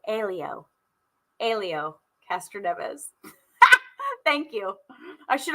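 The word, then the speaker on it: Hélio: and this makes sense in any sport hey leo elio elio castroneves thank you i should have gone to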